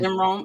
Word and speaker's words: Rohn: Is that how you pronounce it? Mm-hmm. Jim Rohn.